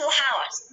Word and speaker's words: hours: For 2 hours. 그렇죠. hours가 아니에요. 잘 들어보지 않았네요. 얘가 소리 안 나니까 hours입니다.